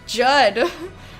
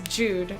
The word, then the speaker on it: Jude: It's never pronounced that way. Judd. No. Her name is Jude.